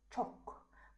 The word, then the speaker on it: chalk: Chalk. Мұна L деген дыбысталмайды. Silent letter болып табылады. Сондықтан chalk. We don't talk.